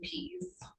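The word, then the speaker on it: Pease: name I'm now PE uh how how do you spell that it's a p e a s e p e a s e yep just it's please without the L uh p p a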